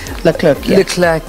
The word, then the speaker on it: Leclerc: So I know that everybody, all the fans may shout at me for pronouncing Charles's surname wrong. Is it Leclerc? Leclerc.